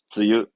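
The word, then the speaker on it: 梅雨: 장마는요, 쯔유, 쯔유. 이것도 우리말로는 매우인데, 매화가 피고 질 무렵에 피는, 내리는 비다 해서 매우라는 건데, 장마예요. 쯔유, 쯔유.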